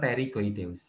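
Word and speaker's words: pterygoideus: ada prosesus pterigoideus ya ya bacanya terigoideus Ya p-nya hilang kan gitu ya jadi ini ya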